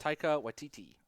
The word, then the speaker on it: Taika Waititi: I know you know how to pronounce his name, so go ahead. Taika Waititi.